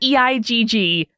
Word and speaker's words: Eigg: know that egg is eigg pronounced like egg um i just really